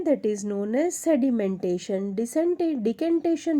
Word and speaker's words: decantation: डिकेंटेशन, यू can also pronounce it एज डिसेंटेशन और डिकेंटेशन.